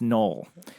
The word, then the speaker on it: Noel: It's a very unique pronunciation and spelling of Joel, as in that it's spelled with an N and pronounced Noel.